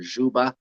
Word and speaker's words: Dzuba: So it's supposed to be pronounced "," "Zuba," and that is incorrect everywhere else in the world. Everywhere else in the world, they'll use that same sound in Anjou. They'll say "Mr. Dzuba."